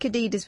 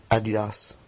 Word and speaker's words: Adidas: European way, Adidas. Adidas. What? Adidas. The American way, Adidas.